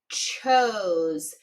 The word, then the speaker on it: chose: Sometimes people accidentally put a Z there because it sounds kind of like chose, but this is an S spelling that one.